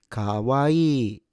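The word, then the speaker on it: かわいい: Also, don't stress any of the syllables or mora.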